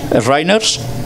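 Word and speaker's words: Shriners: Roosevelt pertenecía a la orden de los ¿Cómo lo pronunciaríais esto de Rinners en inglés? Riners, ¿vale?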